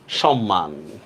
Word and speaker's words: সম্মান: তো তালব্যস ম হসন্ত ম আকার ন হসন্ত সম্মান ঠিক না এবার এটার উচ্চারণ করেন তো দেখি আপনারা লেখেন সজীব সজীব